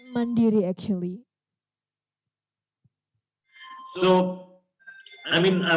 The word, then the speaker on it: Mandiri: it Bank how do you how do you pronounce it it's mandiri actually so I mean I was looking on